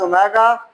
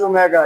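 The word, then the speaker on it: omega: नीचे लिखा हुआ इफ we name any वन of these as ओमेगा pronounced as ओमेगा, ये नाम आपको दिया हुआ है कि W को क्या कहते हैं, ओमेगा कहते हैं।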